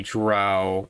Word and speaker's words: drow: realms forgotten realms the drow don't have beef with giants they do an eperon no button forgotten realms the drow or dro however you wish to pronounce it or the whole dominatrix